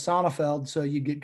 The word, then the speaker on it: Sonefeld: when you have a long german last name that's often mispronounced you come up with all these mine is sonifeld so you get called